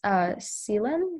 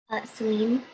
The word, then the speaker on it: Celine: 65, Samhita, speller 76, Seelan. Let me know if I'm saying that wrong though. What is the right way to say that? Seelan? Celine. Oh, Celine. Okay, gotcha.